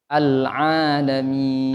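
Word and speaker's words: عالمين: Jangan pakai alif, Bu, ya. Pakainya ain. Al-alamin. Alhamdulillahi Rabbil Alamin. Ya, jadi a sama ain itu beda.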